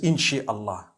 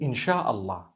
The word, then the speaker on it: Insha'Allah: Inshi means to create. No one says Inshi Allah. They say Insha'Allah.